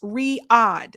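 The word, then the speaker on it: Riyadh: Uh, Sabi pronounced Riad, the Saudi city.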